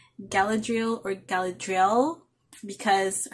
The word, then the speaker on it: Galadriel: name correctly galadriel or galadriel because her short form name is l so i guess you pronounce it galadriel and orion i'm guessing